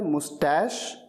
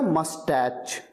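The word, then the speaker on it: mustache: मूंछ को कहा जाता है मुस्टैश या मस्टैच, दो तरीके से प्रोनाउंस किया जाता है।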